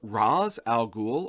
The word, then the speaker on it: Ra's al Ghul: already a point of contention actually how to pronounce this character's name it's either raz al ghul or al ghul this is actually a point